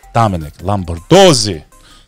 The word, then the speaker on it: Lombardozzi: Yeah, I mean, it's said the way it's spelled, bro. It's like if you went to like second grade, you should be able to say the name.